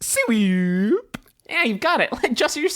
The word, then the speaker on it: SWEWP: It's pretty much phonetically. So it's pronounced swoop.